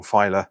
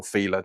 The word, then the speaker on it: Fila: So, it's going to look slightly different to the mock-up cuz I've used the template of the original Fila or Feela, depending on your pronunciation of it, um how that kit originally looked.